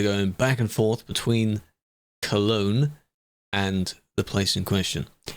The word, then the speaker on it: Cologne: Cologne? Yes. That's how you say it.